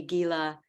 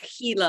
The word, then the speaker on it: Gila: called The Gila monster even though it's pronounced Gila monster here in the United States everybody would have said oh Gila monster so I would